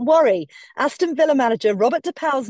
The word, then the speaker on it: De Pauw: Aston Villa manager Robert De Pauw's name is actually pronounced like owl without the L.